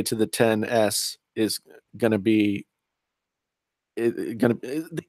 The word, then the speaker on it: XS: is pronounced 10S, not XS. Here we go. Here's the thing. Uh-oh. Okay. X means 10 in a dead language.